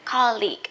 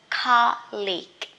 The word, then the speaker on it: colleague: you work with a lot of people usually pronounce college no not college college or university the places where you study here colleague a person so remember college with ge at